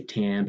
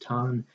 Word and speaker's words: Tan: instances of ton ton a lot of people i think say tan but i think it was actually pronounced ton anyway after this patient